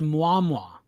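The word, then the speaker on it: Mjölnir: It's pronounced muam mwa.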